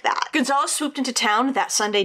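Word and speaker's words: Gonzaullas: that Lone Wolf Gonzalez I'm going to assume it's Gonzalez um it's spelled g o n z a u l l a s and all the pronunciations said that it was like a variation of of Gonzalez so I guess that's how I'll pronounce it but Gonzalez and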